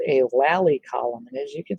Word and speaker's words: lally: column is called a lally column and as you can see i have two now lally column is spelled l-a-l-l-y it's not a lolli column like a lollipop it's a lally column and that lally column